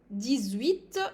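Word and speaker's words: dix-huit: D, 17, 18, I'm making the liaison, 18, and then 19.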